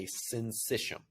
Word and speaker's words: syncytium: And so it creates electrically connected contractions known as a syncytium. Syncytium is how you pronounce that.